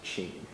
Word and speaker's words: Tim: journalist Jean in Brazil Tim is pronounced she Lopez was an investigative